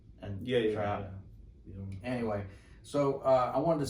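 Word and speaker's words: Trapp: And so, my name's Trap. The first P is silent, and Trap.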